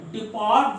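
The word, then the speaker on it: depart: डिपार्ट, तो जो डिपार्ट है बोलने में आर थोड़ा साइलेंट होता है, डिपार्ट बोलते हैं, डिपार्ट।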